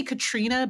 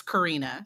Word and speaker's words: Karina: And this is and I might say Katrina, but it's Karina.